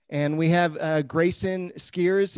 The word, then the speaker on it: Skweres: we have uh grayson skiers is that how you say it like the shares okay where can they find